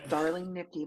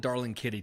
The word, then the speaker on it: Darling Nikki: was the other one they even mispronounced it they called it darling Kitty too I was like that's